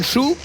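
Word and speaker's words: Hsu: Ça s'écrit H S U en langue taïwanaise, on le prononce chou.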